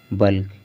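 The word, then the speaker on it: bulk: हमने बताया था इससे पहले नियम में, रूल में बताया था कि के से पहले अगर यल होगा तो यल साइलेंट होगा, यल का उच्चारण नहीं करना है, लेकिन यहाँ पर उच्चारण हो रहा है।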